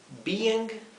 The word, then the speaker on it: being: la s pronuncia bien así se pronuncia Bing Being Bing Being tenemos como si fuera dos tiempos be in Y acá es un solo tiempo Bing verdad Acá tenemos dos sílabas B eng acá tenemos solo una sílaba Bing así que ya ven